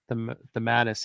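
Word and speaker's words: DeMatteis: Dematis, yeah.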